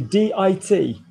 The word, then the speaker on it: dit: So basically, D-I-T, D. So we don't pronounce words in French, mostly, not all the time, pour la plupart, when there's not an E on the end.